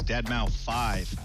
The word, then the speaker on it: Deadmau5: This is your good friend Joel, professionally known as Deadmau5. Yes, that is the correct way to pronounce it.